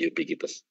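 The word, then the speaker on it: ubiquitous: lazim disebut sebagai yubikites ini bacanya yubikites tulisannya Ubik ya bacanya yubikites Nah kita saat ini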